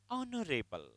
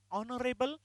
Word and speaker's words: honorable: Honorable. While saying honorable, we never say her. It is a sound is there. Honorable. He is an honorable man, not honorable man.